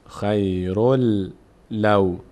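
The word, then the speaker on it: خيرٌ لو: اگر ادامه دادیم تنوین بعدش لام اومده، حروف یرملون تبدیل میشه به حرف مبد، خیرل خیرل لو خیرل لو. به جای این واو دوم لام تلفظ میکنیم، خیرل لو کانو یعلمون.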